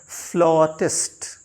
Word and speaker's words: flautist: फिर FLAUTIST, ये my dear learner होता है फ्लॉटिस्ट.